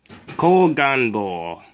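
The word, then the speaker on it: 後眼房: The first symbol is this one. It's pronounced ko. The second symbol is this one. It's pronounced gan. And the third symbol is this one. And it's pronounced bo. Koganbo, posterior chamber.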